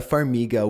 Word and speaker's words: Farmiga: claw marks just going to double check the pronunciation on her last name figga farga when actress verah Farmiga was researching the story she said that no